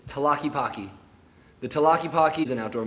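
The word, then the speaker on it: Tlaquepaque: Nobody knows how to pronounce this word right here. It is Talaki The Talaki is an outdoor mall.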